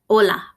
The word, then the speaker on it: hola: learn these new phrases Ola Ola pay attention to the fact that H is silent hola buenos dias buenos dias